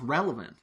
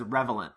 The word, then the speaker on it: relevant: other people probably know he also doesn't know how to pronounce relevant so he says revelant in this episode then we get the